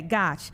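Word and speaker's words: Gotsch: Yeah, it's Gosh. It rhymes with scotch. That's an easy way for people to remember. Gotcha. Okay. Gosh.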